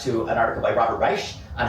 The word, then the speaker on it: Reich: I will link in our description to our podcast to an article by Robert Reich on how to. Is that how you say his name, Reich?